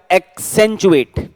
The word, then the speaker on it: accentuate: एक्सेंचुएट, यानी कि एसेंचुएट बोल दो, एक्सेंचुएट। तो पहले सी का क, एक, और फिर सी से स, एक्सेंचुएट।